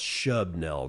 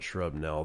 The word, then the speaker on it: Shubnell: Actually, that's pronounced Shubnell, not Shrubnell.